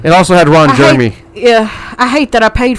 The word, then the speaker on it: Jeremy: Jeremy. I'm like, it's Jeremy. There's 2 E's.